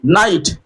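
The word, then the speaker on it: knight: के एन आई जी एस टी नाइट के silent हो गया के एन ओ डब्ल्यू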